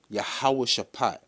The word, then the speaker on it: Jehoshaphat: but um when you went to the word jehoshaphat it's properly pronounced in the lashes the hebrew ya how would shape yeah how was the heavenly father's name shap